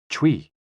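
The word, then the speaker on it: chui: associated with the lungs c-h-u-i pronounced like tui with a forceful exhale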